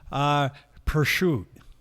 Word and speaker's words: Prosciutto: Prosciutto.